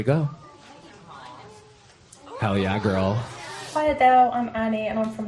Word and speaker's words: Adele: Adele Adele okay so it's like there's a w Adele Adele say it okay so I say Adele yeah so but what the what I was reading today was that that we all say it here in America like H dash d-e-l-l uh yeah but they said she pronounces it uh Dash d-a-l-e like a Dale but it sounds like she's adding a w Adele Adele Adele yeah but it's London